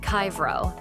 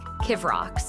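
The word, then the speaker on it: Kyvraux: For example, say your company name is spelled K Y V R A U X, but it's pronounced Kyro. Sometimes the AI might say it weirdly like kivox or kru.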